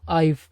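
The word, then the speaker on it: I've: எப்படி உச்சரிக்கணும், ஐவ். இந்த உஃப் அப்படின்ற மாதிரி ஒரு சவுண்ட் வரணும். உஃப் அப்படின்னு ஊதணும். ஐவ் close them.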